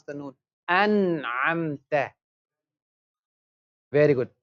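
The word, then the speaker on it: أَنْعَمْتَ: An'amta. Very good. An'amta. Same way, example, so after noon sakin tanween, if ha comes, ghain comes, or kha comes, we pronounce the noon.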